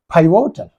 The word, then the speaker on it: pivotal: Actually, the stress should have been here. Pivotal. Here, pivotal. Here, that should be on the first syllable.